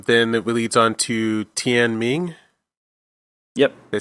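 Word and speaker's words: Tianming: Then it leads on to Tian Ming.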